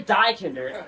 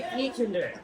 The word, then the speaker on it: die Kinder: So if you ever forget how to pronounce Die Kinder, just remember, we don't kill little children in Germany. So you don't say Die Kinder, you say Die Kinder.